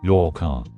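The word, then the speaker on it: 八日: a duration, the 8th is generally read as yoka. In Japanese, the kanji for 8 is pronounced as hachi in its onyome and ya in its kunyome.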